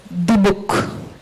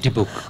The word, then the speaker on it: Dybbuk: I hope I'm pronouncing it right again. It's Deepak. Is that correct? Right, Deepak. Okay. Can we all say it together? Okay. 3, 2, 1. Deepak.